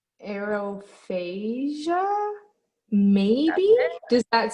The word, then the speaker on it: aerophagia: air okay i'm gonna try i think it's aerophagia maybe does that sound right okay exactly a